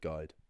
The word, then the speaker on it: guide: If you think of the word guide, gu i d e. What is actually being pronounced there is a g sound, the sound i, and then the end of the word duh.